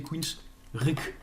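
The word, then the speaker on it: Queensrÿche: pas c'est extraordinaire donc queen streich ça s'écrit wikipedia dit encore une fois on peut prononcer queen's récul et parce que le groupe déjà le prononce comme ça sur youtube sur certaines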